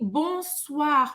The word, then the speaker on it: bonsoir: O OI em francês tem o som de UA. Presta atenção que não é UA lento, é UA bem rápido. Bonsoir. E a gente vai pronunciar o R no final, aqui na garganta.